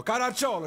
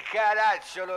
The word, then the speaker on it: Caracciolo: Sono visto sull'elenco, Caracciolo ci sta scritto. Sì, ma lei sbaglia l'accento, qui è Caracciolo, le ho detto.